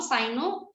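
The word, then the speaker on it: cyno: सिनो और साइनो यू can pronounce either, इसका मतलब होता है डॉग, आपको पता है।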